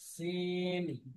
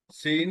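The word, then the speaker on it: سين: সদের পার্থক্যটা বুঝতে পারতেছেন সিন সদ এবং সা তিনটার কিন্তু একই রকম উচ্চারণ পার্থক্য হবে কি সিন সদের মাখরাজ একই কিন্তু সিন হবে পাতলা সদ হবে মোটা আর মোটা করার জন্য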